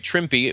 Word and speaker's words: Trimpe: That's right, Trimpe. We know last time we said it was Trimpe, but we heard his name pronounced a couple of different ways, haven't we, Joe? Yeah, a couple of different times. So, but Herb mentioned himself. It's Trimpe, so that's what we want to make sure.